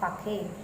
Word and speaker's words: sake: Suddenly, Taro's father said, "I wish I had a cup of sake. It would warm me and do my old heart good." Here the word S-A-K-E, we have to pronounce like fake. Fake.